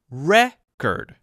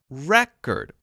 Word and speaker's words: record: o r d if it is a noun record record and you could use it in many situations